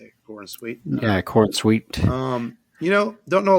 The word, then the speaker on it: Corenswet: And our Superman Clark Kent is going to be David Corenswet. I guess that's how you say it, Corenswet.